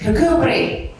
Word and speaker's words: Kirkcudbright: It's actually pronounced Kirkcudbright.